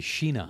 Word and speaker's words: China: okay and it's so should be sheena not but China right a China part yes it should be pronounced Sheena but we don't pronounce it that way I gotcha but so this is mr.